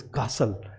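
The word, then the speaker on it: castle: में आ रहा है, तो उसे ट को जो है वो प्रोनाउंस नहीं किया जाता। तो हम इसे कैसे बोलेंगे, विसल, इसे बोलेंगे रेसल, और इसे हसल, and this is कासल।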